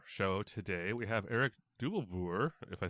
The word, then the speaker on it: Dubbelboer: Sure, I'm Erik Dubbelboer, you pronounced it almost correctly.